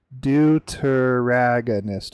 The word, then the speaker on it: deuteragonist: How do you pronounce that? Is it deuteragonist or deuteragonist? Deuteragonist.